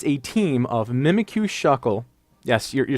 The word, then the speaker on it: Shuckle: and it is a team of mimic you shuckle yes you're saying it right it's Shuckle which